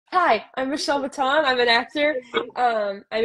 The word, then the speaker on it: Mouton: m o t n my last name is maton pronounced kind of like salad Crouton so I was born